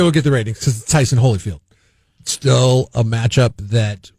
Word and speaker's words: Holyfield: name right it's it's it's not hollyfield it's holyfield fields you just sound